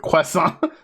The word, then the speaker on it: croissant: That's how they pronounce it, basically. Although there'd be an accent over the last A. Croissant. Because, you know, there's a T on the end, but they don't ever say it.